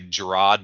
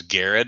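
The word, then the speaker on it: Gerads: for a long time, I'd say Gerard, but it was Garrett is how you say it.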